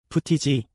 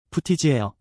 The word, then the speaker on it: footage: 푸티지 발음 주의하세요. 푸티지예요.